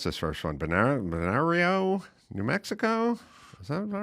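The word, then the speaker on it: Bernalillo: I don't even know how to pronounce this first one. Benar Benario, New Mexico.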